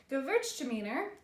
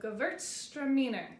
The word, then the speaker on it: Gewürztraminer: next couple of weeks after this video so go Virg demeanor that's how it's pronounced the W in there is pronounced okay